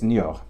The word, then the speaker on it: Niort: So I'm guessing it's Niort. Niort in France.